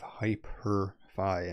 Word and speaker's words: HypurrFi: Next up, we have HyperFi, and I'm pronouncing it like that because it's Hyper with a P-U-R-R, as you can see here.